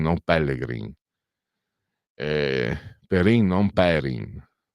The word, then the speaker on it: Pellegrin: Sanson Sanson Teofilo Sanson Pellegrin non Pellegrin Perin non Perin perché a sud tendono ad anticipare l'accento e noi invece siamo più sdruccioli al al nord e pensate che lui